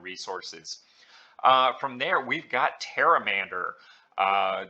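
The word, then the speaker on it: Pteramander: from there we've got taramander uh the p is silent much like in Jordan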